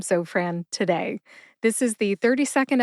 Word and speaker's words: Zofran: is short for Francis put both syllables together and you get Zofran emphasize zo see if you can hear the emphasis when I say it again Zofran where did I get